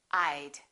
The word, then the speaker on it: I'd: contracting the word would I would sounds like I'd I would and I had sound exactly the same when they're contracted they both sound like ID I would go I'd go I had gone I'd gone they sound the same how about he